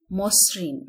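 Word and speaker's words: মসৃণ: আদ্য তোমাদের মাথায় থাকবেই আদ্য অ এর পরে যদি ঋ থাকে তাহলে সেই অ এর উচ্চারণ কি হবে ও হয়ে যাবে যেমন লেখা আছে মসরিন আমরা উচ্চারণ করব ম এই অ এর পর একটি ঋকার আমরা দেখতে পাচ্ছি তাহলে অবশ্যই মকার হবে মুসরিন দুটো স এসেছে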